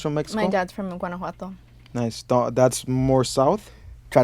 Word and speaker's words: Guanajuato: My dad's from Guanajuato. Nice. That's more south. Try to pronounce that, Max. Say it again. Guanajuato.